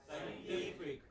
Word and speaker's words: scientific: Say for example, all words ending in IC, ick, have this kind of stress on the pre-final. So, you have dramatic. What is it? Dramatic. Next. Scientific.